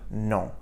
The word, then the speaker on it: non: So hear that faint N sound, non, at the end of the word.